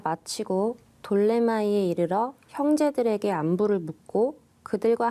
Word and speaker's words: 돌레마이: 떠나서 이제 항해가 끝났습니다 돌레마이 돌레마이 이게 프톨레마이오스인데 피를 묵음으로 발음하기 때문에 여기는 돌레마인데 프톨레마이오스 왕조가 지배했던 곳에